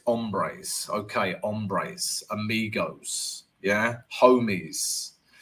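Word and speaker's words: hombres: up um okay don't pronounce the H in Spanish so it's ombres okay ombres amigos yeah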